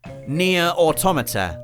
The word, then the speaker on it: Nier Automata: Nier Automata, that's right, I pronounced it right, is our penultimate entry this